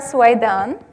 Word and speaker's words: Soueidan: my last name correctly so my name is suan this is how it's pronounced uh I come from